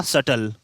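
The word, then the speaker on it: subtle: था नेक्स्ट जो है वह हमारा सटल अब देखिए इसमें बीच साइलेंट है क्या इसमें भी साइलेंट इसलिए इसको बोलते हैं सेटल सेटल भी क्या है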